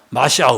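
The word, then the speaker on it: מָשִׁיחַ: " 마시아흐 " 라고 발음 하면 , 그것 은 메시아 를 의미 합니다 .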